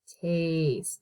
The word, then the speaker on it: taste: you eat through taste taste t a s t and then a silent e at the end that taste i don't